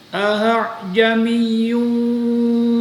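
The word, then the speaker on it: أَأَعْجَمِيٌّ: Nah, perhatikan, ini ada dua hamzah. Hamzah yang pertama dibaca jelas, sedangkan hamzah yang kedua dibaca antara bunyi huruf hamzah dan bunyi huruf alif. Jadi tidak dua-duanya. Gimana cara membacanya? Perhatikan sebentar. Nah, jadi kayak kepada huruf ha kecil, tapi juga bukan ha.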